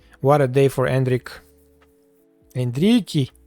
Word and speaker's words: Endrick: Endrick. 2-0. And this is exactly what we wanted. What a day for Endrick. Endrique. That's the name, the pronunciation in Portuguese.